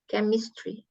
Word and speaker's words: chemistry: sains Sain Iya chemist chemistry chemistry pakai k ya chemistry chemistry artinya enggak tahu